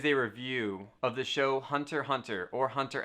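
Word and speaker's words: Hunter × Hunter: if you're gonna have a show called hunter hunter where the x is silent i don't know where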